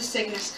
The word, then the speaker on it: Cygnus: So these are the Cygnus colorways, and which sounds a lot when I pronounce it like sickness. It's not.